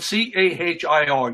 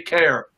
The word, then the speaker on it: Cahir: It's spelled C-A-H-I-R. You Americans would say Cahir, C-A-H-I-R. We say care, as in care. I care for whatever.